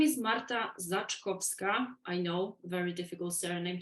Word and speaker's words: Zaczkowska: for the first time my name is Marta Zach kovska I know very difficult surname to pronounce but you can just call me MARTA